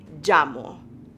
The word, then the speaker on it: llamo: L or the day which has a very similar sound to Y in English now listen closely Mae Jamal Jamal the third way